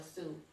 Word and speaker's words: Sioux: Is it Standing Rock Sioux or Sioux?